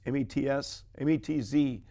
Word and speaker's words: Metz: But we ended up taking the barge to another city called Metz, M-E-T-Z. It's pronounced Metz.